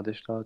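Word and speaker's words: でした: Tu vois, tu vas pas vraiment faire le chi.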